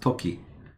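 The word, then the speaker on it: 時: And it can be pronounced toki. Because if you see this symbol with the second half of iro, which means various, this plus that symbol is tokidoki, which means sometimes.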